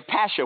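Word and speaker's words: pasha: I'm going to be a pasher with the accent on the pash.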